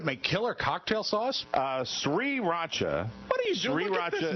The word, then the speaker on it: sriracha: to actually concentrate now and remember that it's pronounced sriracha because mike hacked it so badly the sriracha hot sauce is there you have some crackers